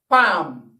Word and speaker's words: palm: palm this time around it is not the short ass sound it is the long ass sound and then while pronouncing that word the l is not pronounced the l is not pronounced what it does is that it helps to stretch the sound from a short to a long sound so that word is